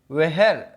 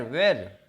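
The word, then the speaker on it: where: वेहर, वेहर, वेर, ऐसे वेहर भी बोलते हैं, वेहर बोलते हैं, ठीक है। वेहर, वेर। आप काफ़ी लोग ऐसे बोलते हैं वेर, तो वेर भी बोल सकते हैं। वेहर, असली उच्चारण इसका आता है वेहर, ठीक है।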